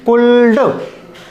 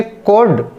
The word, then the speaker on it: could: Students इसको पढ़ते हैं कुल्ड, जबकि वो रॉन्ग होता है। तो आज हम इसका राइट प्रोनाउंसिएशन सीख रहे हैं, इसको हम पढ़ा करेंगे कोड।